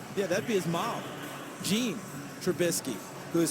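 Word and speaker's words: Jeanne: that'd be his mom jean trubisky who is spelled and it's spelled g-j-e-a-n-n-e and she said people often call her genie but she wants jean and she said i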